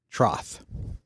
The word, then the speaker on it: troth: That does seem to be what the pronunciation guide and even some of the pronunciation things that we've listened to indicate that it's actually troth.